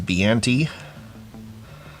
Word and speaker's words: Biante: So that is Biante. If you say it like Hannibal Lecter does, and you should.